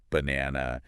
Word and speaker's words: banana: So, if you're saying like banana, you'd clap on that na.